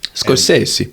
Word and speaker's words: Scorsese: But the original script of and I think it was Martin Scorsese that produced. Scorsese.